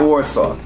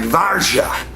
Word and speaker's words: Warsaw: pieces and my teeth does anyone know the right way to pronounce Warsaw because it's not Warsaw let's say something like varsha but I don't know